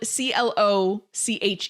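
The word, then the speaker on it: cloche: It's It's spelled C L O C H E, but it's pronounced cloch.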